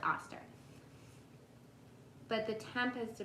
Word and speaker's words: Oster: address this um with your Oster oven auster I think it's pronounced auster but the temp has